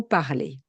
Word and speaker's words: parlent: le verbe en ER, le je, tu, il au singulier et au pluriel, le elle au singulier et au pluriel ou le on, ont la même prononciation. Je parle, tu parles, il parle au singulier, il parle au pluriel, elle parle, on parle.